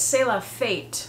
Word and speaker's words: C'est la fête: Let's look up how to pronounce that and see if I did it correctly. Okay, it's C'est la fête.